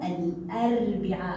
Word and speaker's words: الأربعاء: في يومنا اليوم الأربعاء، لاحظوا أتى معها لام قمرية، لام قمرية، أربعاء، ال أربعاء، ال أربعاء، إذا هو حرف من حروف اللام القمرية، لا أقول أربعاء أربعاء، لا، إنها لام قمرية وتلفظ وأسمع لصوتها، الأربعاء هو حرف من